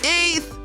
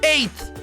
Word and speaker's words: eighth: Eighth! Ela tem 2 sons apenas, porque as letras G e H não são pronunciadas. Assim, a gente vai dizer eighth, colocando a pontinha da